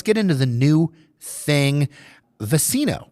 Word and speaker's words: Vecino: But first, let's get into the new thing, Vecino, correct? Yeah, or, with the Mexican pronunciation, Vecino. Okay. The V's and B's in Spanish are usually pronounced similarly or the same.